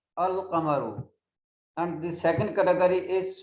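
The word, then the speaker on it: القمر: The letter L is pronounced. The pronunciation is Al-Qamaru.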